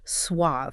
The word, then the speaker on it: swathe: The word is swath, or depending on where you're reading it, sometimes it's spelled with an e at the end and pronounced swathe.